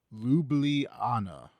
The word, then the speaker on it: Ljubljana: Someone's Lublana.